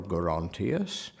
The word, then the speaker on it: Gerontius: So all that is holding to the hard G.